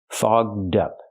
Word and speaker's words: fogged up: voice G and D fog dup to help with pronunciation link the D sound to the second word up so you have dup together fog dup her glasses get